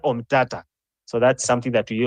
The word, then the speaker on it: Omtatah: pronouncing the name wrongly it's not omia it is okia omata so that's something that